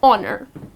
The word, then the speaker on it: honor: honor so again honor the h here which is at the beginning of the word goes silent and the correct pronunciation is honor the maid of honor